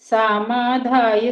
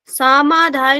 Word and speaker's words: समाधाय: यष्टव्यम एव इति मनः सामाधाय सात्विक सामाधाय नहीं समाधाय सात्विक समाधाय सात्विक बढ़िया ठीक